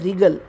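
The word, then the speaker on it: wriggle: डैड आई can real real में डब्लू नहीं बोला जाएगा साइलेंट रहेगा आर से बोला जाता है रिगल और दल का मीनिंग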